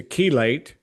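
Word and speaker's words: chelate: It comes from a Greek word to keelate spelled with a ch h e l- a teelate and bind heavy metals and pull it out.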